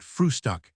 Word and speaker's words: Frühstück: word breakfast, but always call it frühstück, with a special emphasis on the first syllable.